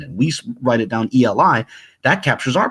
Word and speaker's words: Eli: Eli, Eli, or in the proponents of Lashawan Qadash would say, no, it's pronounced Aliyah, Aliyah.